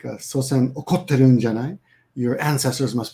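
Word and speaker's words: 祖先: Sosen, senzo, sosen, senzo. And I'm often forget when to pronounce when the S changes to a Z. I sometimes think, is it sozen? Right? No, it's sosen, SS, and senzo.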